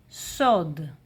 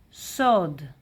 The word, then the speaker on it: סוד: And in Hebrew secret is sod. Sod sod masculine singular. And in plural, yes, we have here tough and it looks a bit feminine, but no, still masculine plural. Sod dot sod sod dot.